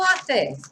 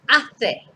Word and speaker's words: hace: Okay, and remember that in Spanish we never pronounce the H. So it's hace sol.